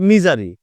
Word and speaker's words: misery: সহজ না সহজ তাহলে মি ঝারি উচ্চারণ হচ্ছে মিজারি এম আই এস ই